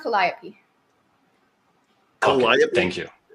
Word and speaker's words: Calliope: It's pronounced Calliope. Calliope? Okay, thank you. Calliope.